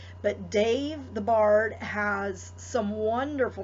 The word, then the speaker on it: Damh: For those of you that are not familiar with his work, Dave the Bard, it's spelled D-A-M-H. It's pronounced like a V. It's Celtic. But Dave the Bard has some wonderful music, and he has songs for all of the Sabbats.